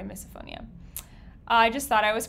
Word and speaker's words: misophonia: i might have miss misophonia oh i've been saying it wrong is it misophonia oops sorry misophonia i just thought i